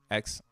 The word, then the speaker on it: XEN: XEN. 2 syllables. XEN.